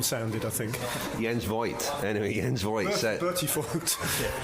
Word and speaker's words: Voigt: Because now that he's finished, we were all decided that we're going to pronounce his name correctly. The entente cordiale of let's just call him Voigt and be done with it.